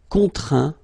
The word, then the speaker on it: contraint: Okay, and as usual, final T here is not pronounced, so you get craint, contraint, plaint.